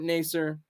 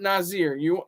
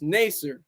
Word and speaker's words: Naser: individual, just like Robert Naser. And I'm still trying to pronounce his name. It's Naser, not Nazir. I know people in the chat are like, oh, it's Robert Nazir. No, it's Naser.